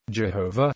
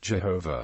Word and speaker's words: Jehovah: Other scholars believe that Jehovah is the correct pronunciation of the tetetrogrammatin which is pronounced as it is written.